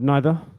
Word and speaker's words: neither: Risa, do you know the word neither? Uh yes. It's like not either. Yeah. It's negative either. strange. It can be pronounced neither or neither.